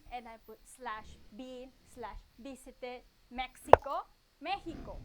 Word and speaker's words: México: México. I wrote it as in Spanish. México, con el acento en la E.